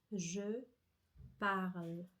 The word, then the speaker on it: je parle: Sim, só que esse e mudo eu não pronuncio. Então, minha língua ela fecha a palavra com a letra L. Dacorda atenção, je parle, certo?